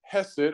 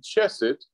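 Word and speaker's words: חסד: is the Greek word hesit orchested and it's spelled h-e-s-e-d in English it would be c-h-e-s-e-d chess it and it's a noun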